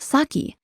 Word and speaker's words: sake: this word in english in english it's pronounced saki but it's important to